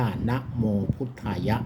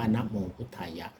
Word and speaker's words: นะโมพุทธายะ: ตัว นะ ครับ นะ อ่าน เต็ม ๆ อ่าน ว่า นะโมพุทธายะ นะ ครับ อ่าน ว่า นะโมพุทธายะ นะ ครับ ก็ ถือ